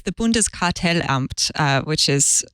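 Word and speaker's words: Bundeskartellamt: thing or two about German so you can pronounce the name of the regulator for us Rosemary uh so it's the bundes cartel amped which is like a more bureaucratic organization rather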